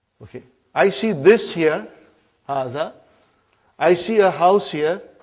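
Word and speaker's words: هٰذَا: See, it is pronounced like Haza. But this alif is not written.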